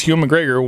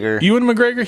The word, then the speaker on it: Ewan McGregor: Long Way Up, they rode electrical motorcycles because Hugh McGregor wanted to. They planned this trip, but then at the like. Wait, are you saying Hugh McGregor or Ewan It's a YN. Ewan McGregor?